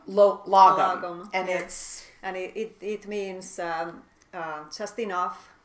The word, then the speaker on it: Lagom: So, and yours is called Lagom. Lagom, and it means just enough, simple ways to